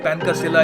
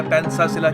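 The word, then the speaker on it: Pancasila: अब यहाँ पे मैं आपका ध्यान इस पर लेकर जाना चाहूँगा, पैनकासिला इसकी अलग अलग प्रोनाउंसिएशन है। इंडोनेशिया में पैनकासिला या पैनसासिला कहते हैं इसको।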